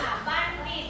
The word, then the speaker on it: บัณฑิต: นะ คำ แรก ค่ะ บัณฑิต อ่าน ว่า บัณฑิต บัณฑิต อ่าน ว่า บัณฑิ